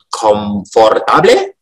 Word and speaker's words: comfortable: Comfortable. Tulisannya gitu ya. Comfortable, katanya juga ada 4 suku kata. Comfortable, tapi coba dengarkan. Comfortable. Comfortable. Nah, see? Only 3 syllables.